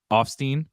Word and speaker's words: Offstein: and Dario Dario I gotta say it right offstein correct yeah you have to remind me okay